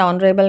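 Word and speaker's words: honourable: इस ऑनरेबल में आप देख रहे हो एच जो है वो साइलेंट है। जो प्रोनाउंसिएशन है, जो आप इस वर्ड को जब प्रोनाउंस करते हो तो वोवल की साउंड आती है, इसीलिए आपने एन यूज़ किया है।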